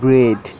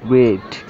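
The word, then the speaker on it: bread: ব্রেড এ ই এ এটির sound এর মতন শোনা যাচ্ছে। ব্রেড ব্রেড যার অর্থ রুটি।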